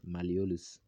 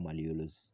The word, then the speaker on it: malleolus: now the next word to look at is malleolus okay malleolus malolus is spelled as m-a-l-l-e-o-l-u-s malleolus so malleolus basically is